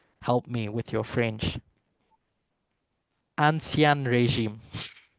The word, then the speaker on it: Ancien régime: It was called, I'm not even going to try and pronounce it. Katya, maybe you can help me with your French. Ancien régime. Ancien régime.